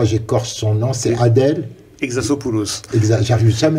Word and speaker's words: Exarchopoulos: Exarchopoulos. J'arrive jamais à le prononcer. Exarchopoulos.